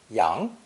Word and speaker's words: 羊: Pronounced 2nd tone, yang, yang.